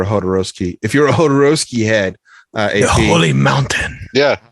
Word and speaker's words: Jodorowsky: Jodorowsky. Yeah, the J is like an H.